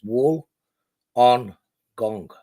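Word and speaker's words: Wollongong: It's wool on gong. Say that quickly.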